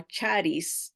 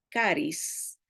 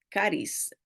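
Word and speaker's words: χάρις: La la leemos como charis Pero se pronuncia caris Ah de ahí sacamos la palabra carismático o carisma caris no es charis Okay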